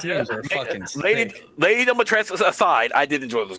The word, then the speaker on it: Dimitrescu: it's not supposed to be Dimitrescu. It's Dimitrescu. That's how it's supposed to be pronounced.